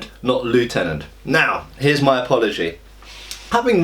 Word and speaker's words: lieutenant: the available evidence I think that Lieutenant is actually more correct than leftenant firstly it is a French word okay and in France it's lieutenant or something like that this is my bad French pronunciation but uh uh it should be lieutenant and the F the